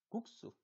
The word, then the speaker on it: 국수: 자, 그드브 뒤의 그드브스즈가 끄뜨뿌스즈로 발음되는 것입니다. 예를 볼까요? 네, 국수. 그러면 그 뒤에 스가 있네요. 그러니까 국수.